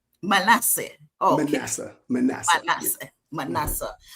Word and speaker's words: Manasseh: The correct pronunciation is Manasseh. Manasseh.